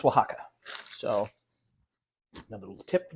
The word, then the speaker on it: Oaxaca: It's actually pronounced Oaxaca.